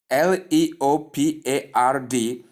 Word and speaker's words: leopard: just spelled it, but pronounced the way I say in this transcription, and that is leopard. So when you want to pronounce the word Leopard, you simply call it leopard, regardless of how it is spelled.